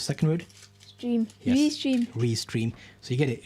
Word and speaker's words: Restream: Restream. Think of it like 2 words.